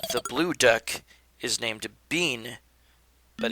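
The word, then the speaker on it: Bin: blue duck is named bean but it's spelled b i n and the i is pronounced e in japan and then peen p-i-n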